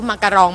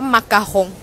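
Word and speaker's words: macaron: เอ่อ ออง มาง อ่า กีโยม พูด ว่า มาคง นะ คะ เพราะ ว่า คน ไทย ก็ จะ เรียก ว่า มาการอง มาการอง จริง ๆ เรียก ว่า มา กาฮง นะ คะ ออก เสียง ยาก นิด นึง แต่ ว่า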